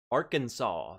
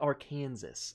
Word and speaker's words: Arkansas: i am in arkansas arkansas that is how you say it bumpy yeah for anyone calling it our kansas i'm coming for you mouth coding for sure